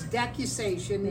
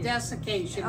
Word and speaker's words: decussation: So the word is decussation, not desiccation.